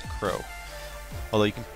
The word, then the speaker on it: Kurou: finished it uh kuu which is the main character is pronounced Crow although it's spelled like you would pronounce it Karu k r o u so I apologize for mispronouncing it it's Crow although you can call